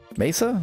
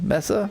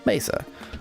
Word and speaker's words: mesa: Mesa. Messa. Mesa. Mesa. Mesa is the sort of standard way to pronounce in English.